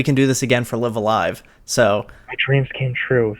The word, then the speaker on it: Live A Live: Okay, so technically I've always thought it was Live Alive, and Google technically agrees with me, because I actually looked it up, and there was a couple of articles that said, it's pronounced Live Alive, but at the same time, people say Live Alive, like you've been saying. So I'm just gonna go with Live Alive, and people can say